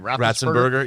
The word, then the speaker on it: Ratzenberger: John, how do you pronounce John's last name? Ratzenberger.